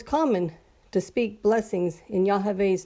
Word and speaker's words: Yahweh: It's the Hebrew letters of Yod-Heh-Vav-Heh, which is the English letters YHVH and is pronounced as Yahweh, or some pronounce it as Yahweh.